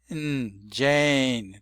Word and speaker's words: Jane: You see the way it is spelled in TR spelled with a silent E. You've got the A and what that silent E indicates is that the A has a different sound than Chad. That's the short version. This is the long version of the letter A.